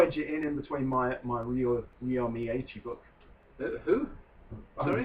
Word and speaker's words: Ryo: It's the Ryo I have a problem with. Ryo. Yeah, it's a cross between an R and L.